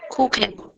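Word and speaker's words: Kuchen: তারপরে আবার দেখে তখন তার উচ্চারণ হবে খ এর মতো, তখন তার উচ্চারণ হবে খ এর মতো, ক্ষয়ের মতন, হ্যাঁ। স্প্রাখে আর কুখেন, কুখেন, যেমন কুখেন, কুখেন মানে কিন্তু স্প্রাখে, কেক।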